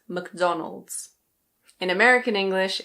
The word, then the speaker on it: McDonald's: Another one that needs no introduction - in British English this one is McDonald's. McDonald's. Be careful. It's not Mac-DonAld's. Ok? It's McDonald's.